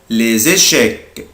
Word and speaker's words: les échecs: échecs, les échecs الشطرنج أنا هنا بنطق حرف الاس زد بقولها les échecs, échecs, échecs, échecs الشطرنج